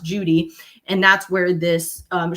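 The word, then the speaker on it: Cudi: in particular called Mount Judy. It's it's written c u d i but it's pronounced judy.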